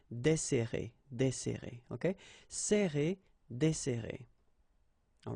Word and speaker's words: desserrer: Okay, so we've got this double S, so it will open the sound of the here. That's the reason why I pronounce it like E. Desserrer, desserrer.